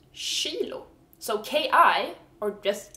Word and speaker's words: kilo: sound it's kilo and it's spelled the same as in English kilo but in Swedish we pronounce it Shilo so Ki or just